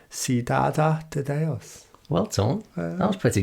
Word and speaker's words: Cidade de Deus: Or I'm going to go the Brazilian Portuguese pronunciation of it, Cidade de Deus.